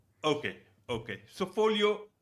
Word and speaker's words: Foglio: you pronounce that correctly folio so it's an Italian word so the the g is silent there okay okay so folio how do you work